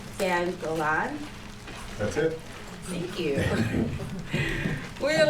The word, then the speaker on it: Gan Golan: This book talk is going to be about 1/6, the graphic novel by Alan Jenkins, and I hope I don't pronounce this wrong, Dan Golan.